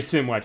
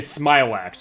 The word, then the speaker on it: Smilax: Okay, I said it's not Mega Similax, it's Mega Smilax.